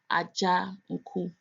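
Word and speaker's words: Adzanku: My last name or my surname is Ajanku, Ajanku. Aja, you might think is spelled AJA, but it's not. It's an Ewe name, and it's spelled ADZA, Aja. So the DZ also makes a J sound.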